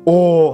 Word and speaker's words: Oh: là O hay là O hay là, chứ mà chỉ đọc là O, O như chữ O bình thường của tiếng Việt Nam mình thôi là được rồi.